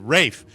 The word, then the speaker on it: Ralph: Isn't it Rafe? Ralph Fiennes. Rafe. Yeah. What? How do you pronounce the last name on this actor that was in Schindler's List?